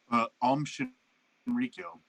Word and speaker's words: Shinrikyo: I want to pronounce this correctly. What is it? What's the cult's name? I'm sorry. Shinrikyo.